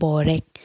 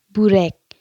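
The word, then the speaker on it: börek: Minsan pinagtatawanan nila ako guys pag sinasabi kong borek. Ang tawang pronunciation siguro doon ay burek.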